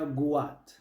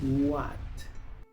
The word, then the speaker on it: what: Muchos pronuncian esta palabra guat, pero aquí la w se pronuncia u, la h es muda. Luego se pronuncia la a y la t, what.